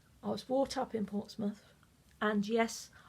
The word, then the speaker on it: Portsmouth: was brought up in Portsmouth and yes I do pronounce it Portsmouth not Portsmouth's I thought considering there's